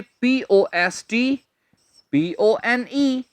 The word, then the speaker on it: postpone: जी हां, spelling note कर लीजिए, POSTPONE। इससे ये मत कहिए पोस्टपोन जी, ये नहीं कहना पोस्टपोन, इसमें टी नहीं बोलते, ये है postpone, postpone।